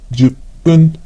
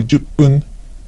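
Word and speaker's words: 十分: kyufun, 10 minutes is juppun or juppun. So depending on the number, the pronunciation of the suffix fun could change to pun.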